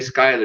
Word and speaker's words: Schuyler: talking about how Schuyler was, which I couldn't pronounce his name until Lynn Manuel put out the play. I was Schuyler, but way Schuyler, he gets a bum rap for abandoning Ticonderoga.